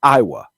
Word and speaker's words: Aiwa: Now, back in the 90s, there was an audio company, and that audio company was spelled AI WA and we pronounced it Iowa, right?